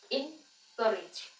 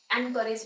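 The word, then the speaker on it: encourage: pronounce करें next is इन करेज अब यहां पे एन करेज नहीं होता है ए से स्टार्ट नहीं होता ये इन इन से स्टार्ट हो रहा है इन करेज एक और बात रिज इ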